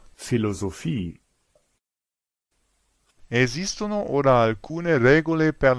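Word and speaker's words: Philosophie: in inglese e poi c'è un p che si pronuncia come una F proprio come in foto o filosofie eso or alcune regole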